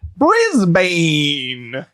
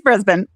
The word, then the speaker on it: Brisbane: Erin, how do you pronounce this one? This one is Brisbane. Brisbane, spelled Brisbane. You may have called it Brisbane. It's Brisbane.